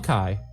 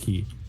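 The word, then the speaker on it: Chi: It's still Kai. Good. Yeah, never let Kingdom Hearts tell you it's pronounced key.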